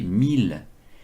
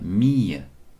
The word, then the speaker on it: mille: Et puis ce mot n'a pas complètement disparu, puisqu'on continue à prononcer 1000, alors que normalement on devrait dire mille, comme fille.